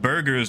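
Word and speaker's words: Buerger's: much that i have a disease called burgers disease which is the whole iga nephropathy thing uh unfortunately it's not spelled like a burger that you eat it's like b-u-e-r-g-e-r oh yeah pyrite there's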